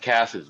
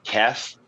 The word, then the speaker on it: Kess: is pretty freaking close my name is actually pronounced kind of like hers it's it's pronounced Kess there's no I used to always say there's no ass in my name because everybody wants to call me Cass when there's no ass